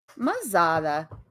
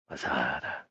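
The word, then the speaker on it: Ma-Zaddha: Mazada. It's spelled M-A little hyphen. Z-A-D-D-H-A. Mazada.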